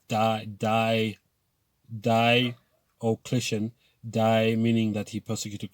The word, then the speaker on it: Diocletian: It happened to the early Christian church, where an emperor called Diocletian, and an easy way to remember his name is Diocletian, Die meaning that he persecuted Christians, okay?